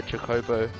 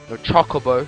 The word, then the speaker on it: Chocobo: it and b they'll be given a weaker jacobo and chocobo sorry or whatever i'll pronounce it right eventually and then they'll do